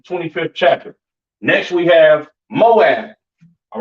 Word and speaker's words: Moab: chapter next we have Moab all right Moab pronounced ma ABA right the children of